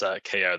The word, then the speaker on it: Keough: So let me invite Keough to ask his question. Thanks very much, Maribel. It's Keough, the GH silent, but I know it's probably hard tonight pronouncing names.